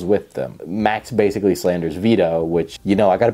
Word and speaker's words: Vito: Max basically slanders Vito, which, you know, I gotta be honest, is kind of fair because Vito has said some stupid things, and his name also rhymes with pedo, which makes it really easy.